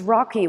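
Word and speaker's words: ROCI: thought um that these Rocky works it's r o CI is pronounced Rocky are were interesting words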